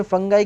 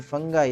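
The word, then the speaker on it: fungi: Microbiology या फिर mycology, mycology में फंगाई की स्टडी की जाती है, फंगाई या फिर फंगी जो आप बोलते हो, फंगी फंगाई दोनों ठीक है, कुछ भी बोलिए, स्पेलिंग ठीक रखिए बस।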